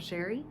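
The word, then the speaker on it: Chere: It is spelled a little fancy, but pronounced plain old Sherry.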